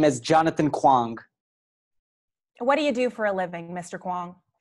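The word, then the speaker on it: Kuang: Can you pronounce the witness's last name once more? Kwong. Kwong with an M? K-U-A-N-G. Kwong.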